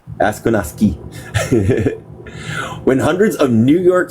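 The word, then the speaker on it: Akwesasne: Asquanassy. There you go. Asquanassy. Then hundreds and then of add T to the end of it. Asquanassy. Asquanassy. Asquanassy. There you go. Last one was right. Asquanassy.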